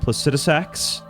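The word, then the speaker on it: Placidusax: what else did I really enjoy I enjoyed placetx as I learned his name is pronounced uh definitely the most enjoyable dragon fight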